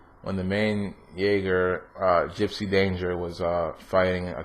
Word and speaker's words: Jaeger: one little spoiler away, was when the main Jaeger, that's how you pronounce it apparently correctly. When the main Jaeger, Gypsy Danger, was fighting a kaiju in the city, the whole sequence was incredible.